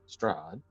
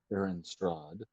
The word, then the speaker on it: Strahd: uh the Master's tomb that of course being straon strad yes pardon my pronunciation it's okay you're not native who have